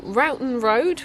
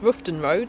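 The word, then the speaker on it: Roughton Road: shortly we have made it to Ron road which is not pronounced ruon road which is what I used to think it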